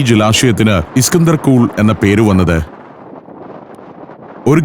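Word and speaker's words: Iskandar: Alexander എന്നതിന്റെ Persian ഉച്ചാരണമാണ് ഇസ്കന്ദർ.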